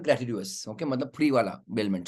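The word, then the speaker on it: gratuitous: Any charge, ये तुम्हारा ग्रेचुअस हो गया। उसको क्या बोलते हैं बच्चों? ग्रेचुअस। ग्रेचुअस बोलते हैं उसको, ग्रेचुअस बहुत अलग प्रोनाउंसिएशन है, ग्रेटिट्यूअस।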